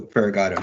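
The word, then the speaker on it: Ferigato: Yeah, and it's Eduardo Farragata, not Figueroa. I was down by three syllables, not syllables.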